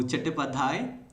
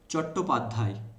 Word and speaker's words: चट्टोपाध्याय: सो चट्टोपाध्याय, you actually pronounce like that, and Bengali में इसको pronounce करते हैं चट्टोपाध्याय।